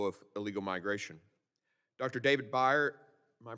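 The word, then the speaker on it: Bier: David Byer, am I pronouncing your name correctly? Beer like the beverage.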